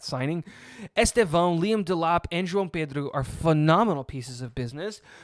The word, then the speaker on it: João Pedro: also got Estevão and João Pedro? Why did I say it like that? It's João Pedro.